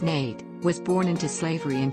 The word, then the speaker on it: Nat: the harder they fall nat love pronounced nate was born into slavery